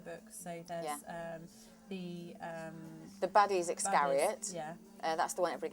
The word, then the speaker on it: Iscariot: certain way to me, but just because you pronounce them differently doesn't make it wrong. It's how you feel. But Iscariot is Iscariot.